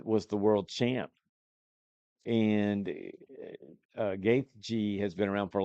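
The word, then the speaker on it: Gaethje: The main event, which is is it Justin or Dustin Gaeth G is how you say his name.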